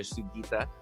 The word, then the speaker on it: Sugita: playoffs and beyond now today we've got trisha sugita ceo of flyquest welcome how you doing today